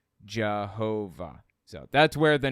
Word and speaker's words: Jehovah: a superstition about it and passing through Germanic regions y's are pronounced like J's W's pronounced like V's you end up with the name Jehovah so that's where the